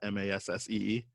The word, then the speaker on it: Massee: The actor Michael Massey, I want to say that's how you pronounce that, Massee.